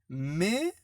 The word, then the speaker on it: mais: Mais, alors, je vois M-A-I-S, je prononce mais. Je ne prononce pas les i parce qu'il n'y a pas de tréma.